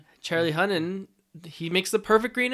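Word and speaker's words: Hunnam: Charlie Hunnan.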